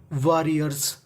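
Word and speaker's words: warriors: ऑफ का मतलब का वारियर्स वारियर्स वारियर्स का मतलब होता है योद्धा देखिए यहां पे आर दो बार है उच्चारण एक बार करना है वज बी बीइंग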